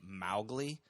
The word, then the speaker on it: Mowgli: up by him and Mowgli is supposed to rhyme with cow like Mowgli according to Kipling but that's not the way Papa raised me this guy named everything